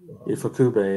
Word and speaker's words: Ifukube: Godzilla films are so, identified with, am I pronouncing his name right? Ifukube? Ifukube, yeah.